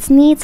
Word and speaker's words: Sneed: The shop is called Sneed's Feed and Seed, where feed and seed both end in the sound eed, thus rhyming with the name of the owner, Sneed.